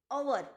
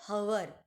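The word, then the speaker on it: hour: Okay, A एन, ओवर, ओवर नॉट हवर। एच दिया है बट उसका साउंड हम ह नहीं करेंगे, उसका साउंड हम क्या करेंगे, एच, मतलब एच को साइलेंट रखेंगे, हम अ करेंगे साउंड, ओवर।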